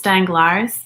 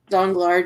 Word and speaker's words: Danglars: I just said it's Danglars as well from myself. And I think it's Danglars. I don't think you pronounced the S.